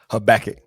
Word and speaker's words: Habakkuk: Habakkuk.